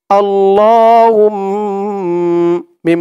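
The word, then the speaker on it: اللَّهُمَّ: হামিম পেশ হুম, আল্লাহুম। মিম জবর মা, আল্লাহুম্মা, আল্লাহুম্মা।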